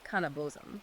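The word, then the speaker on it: kaneh-bosm: And one of those ingredients is phonetically pronounced cannabos.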